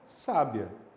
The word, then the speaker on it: sábia: Quando o acento vem para sábia, você pronuncia o i e o a da mesma forma? Não, fica sábia. E aí você tem o i e o a formando um ditongo crescente.